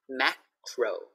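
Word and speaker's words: Makro: And here we have macro. Macro. Macro. So just to show you the R, even in the middle, we have to say it.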